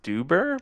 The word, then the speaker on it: Stuber: I believe I'm pronounce its pronounced Stuber because of the uber implications basically dave bautista and